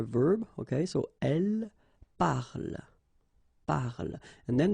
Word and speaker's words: parle: Okay, so elle parle, parle. And then the last thing here that you will hear is the l, l, l.